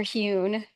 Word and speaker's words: Huhl: Dr. Han, is that how you say the name? So I heard It's Dr. Huhn.